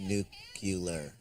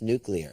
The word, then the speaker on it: nuclear: North Korea's nuclear capability actually Jade's pronounced nucular no its nuclear its nuclear nuclear spell it and you see le AR nuclear okay then why